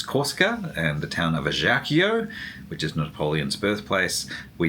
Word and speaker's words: Ajaccio: Actually no, it's not pronounced Ajaccio, it's Ajaccio apparently. Is it? Ajaccio. Yes. I guess it's French not Italian, so the C C is not like a hard K.